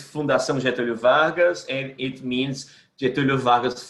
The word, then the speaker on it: Fundação Getúlio Vargas: from Brazil, from the Fundación Marcelo Vargas. I'm sure I'm pronouncing it. I can say it. I can say it in Portuguese and in English. In Portuguese, it's Fundação Getúlio Vargas, and it means Getúlio Vargas Foundation.